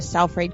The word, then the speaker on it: Salford: And he is also discussing his book at a special event at the Lowry Theater in Salford Quays coming up later in this month of October.